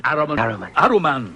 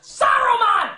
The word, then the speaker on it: Saruman: Aruman. Saruman, you idiot! It's pronounced Saruman! The S isn't silent!